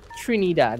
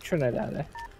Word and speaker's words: Trinidad: It's Trinidad, it's not Trinidad. People say Trinidad? It's Trinidad. Yeah, Trinidad. That's how they say it.